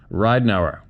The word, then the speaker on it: Ridenauer: First name pronounced like the old lava soap, and the second name like Ride an Hour. Hope this helps. Thanks. Ridenauer.